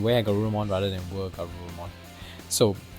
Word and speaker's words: WereGarurumon: Were, but I think I pronounce Wa because in the Japanese pronunciation they call it Wa Garurumon, I think. Yeah, but in this case, if you use the original kind of intention where it's werewolf, then it should be Were Garurumon.